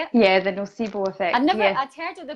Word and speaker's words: nocebo: Yeah, the nocebo effect.